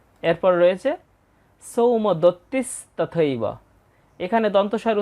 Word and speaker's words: সৌমদত্তিস্তথৈব: এই শব্দটার উচ্চারণ হবে সৌমদত্তিস তথইব অনেকেই এটাকে ভেঙ্গে বলে তথা এব সেভাবেও আমরা বলতে পারি শ্লোক আকার রয়েছে তথইব